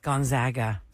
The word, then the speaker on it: Gonzaga: yeah I love it Madness is the best Gonzaga zag did you see that then he said